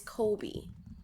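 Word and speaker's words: Cobie: sounds like you or is it kobby it's Kobe but kby would be better Kobe Kobe smolders saying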